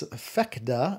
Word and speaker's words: PHECDA: It's PHECDA, I think is how you pronounce it, and it's all capitals, P-H-E-C-D-A, and I think it's like trifecta, because they make, it's